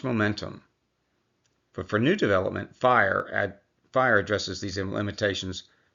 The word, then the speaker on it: FHIR: FIRE, what does it stand for? Fast Healthcare Interoperability Resources. And yes, it's pronounced FIRE.